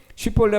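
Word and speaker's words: שִׁבֹּלֶת: 그런데 이 사람이 쉿볼레 발음 하나 못했다고 그 이유만으로 발음상에 쌍시옷 SH 발음 하나 못했다고 사람을 4만 명 죽인다?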